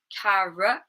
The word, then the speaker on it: carrot: We had it in carrot, second syllable.